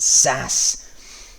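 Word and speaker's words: SaaS: in 3 2 1 the answer is s a a s or as it's pronounced SAS so SAS first of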